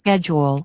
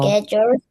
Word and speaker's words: schedule: Schedule, Okay, so let's read the word together. Schedule, schedule, schedule. schedule, Schedule.